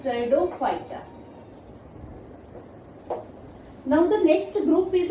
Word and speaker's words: Pteridophyta: And third one is Pteridophyta. P is silent, that is Pteridophyta.